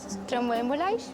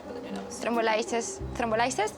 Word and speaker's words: thrombolysis: Can I say thrombolysis? Yeah. Mel? No, adult thrombolysis, 10 minutes. It's gonna be my first time. Adult who is? Adult thromboembolysis? Adult thrombolysis.